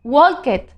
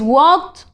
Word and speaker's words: walked: form id remember that it is not pronounced wolket it is walked play played okay so